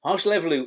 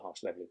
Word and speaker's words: Hárslevelű: I'm trying to think, do we have Hárslevelű on our grape varieties and how to pronounce it? Hárslevelű, oh, I love Hárslevelű.